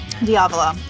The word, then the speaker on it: Diavola: Is that how you say it? Diavola. Correct. Yes.